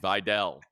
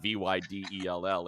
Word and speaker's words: Vidal: So we all have this relationship with Vidal Sassoon, and so we want to say Vidal, and it's Vidal, even though it's not Vydell, it's Vidal, Kamani Vidal, and he's got a big game as we now shift.